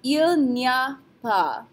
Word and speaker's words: il n'y a pas: This is pronounced il n'y a pas. Just like before with il y a, and we kind of smashed it together when we said it really fast, we do the same thing here with the n'y a part.